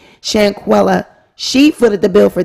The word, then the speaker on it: Shanquella: the bill for this Shaquilla um I can't never say and pronounce her name so excuse me shanquella she footed the bill